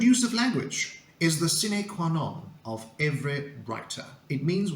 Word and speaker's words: sine qua non: The correct pronunciation is sine qua non, and it refers to an essential condition, something that is absolutely necessary.